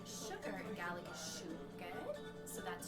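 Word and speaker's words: siùcar: And so the way you say sugar in Gaelic is siúgad. So that's siúgad.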